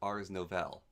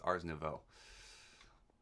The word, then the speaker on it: Ars Nouveau: like to call it, Ars Nouvelle. But people find it cringe when I call it Ars Nouvelle, and that's not entirely how you pronounce it, so it's Ars Nouveau.